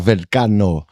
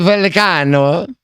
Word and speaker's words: Vallecano: Because I'm going to go watch Crystal Palace v Real Vallecano in UEFA Conference League final. Did I pronounce that correctly? Not really. Our producer Spanish. Is it a German? Real Vallecano.